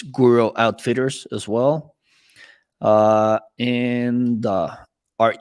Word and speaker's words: Guro: Guro Outfitters, like guru, but with an O at the end.